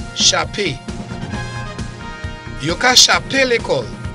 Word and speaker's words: Chapé: Chapé. C H A P E, pronounced as A. Chapé.